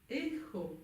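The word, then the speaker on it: écho: Echo. Avec un petit H prononcé.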